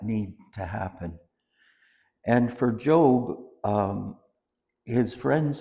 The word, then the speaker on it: Job: And I pronounce it as Job.